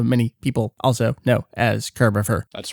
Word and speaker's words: Kirbopher: Kerbifer. It's like Christopher except Kurbier. You got it. What else do you get from people? Uh most often I get Kerbafer.